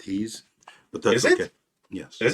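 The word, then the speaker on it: Hy's: there what about highs Hy apostrophe s it's pronounced he's but that's okay yes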